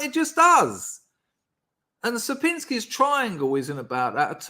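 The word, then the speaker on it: Sierpiński: on Sir pinsky's triangle it's sapinski by the way not sir Pinky and I say it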